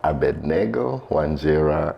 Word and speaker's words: Abednego: My name is Abednego. Although some pronounce, the most common pronunciation I've had nowadays is Abednego. That's what I say.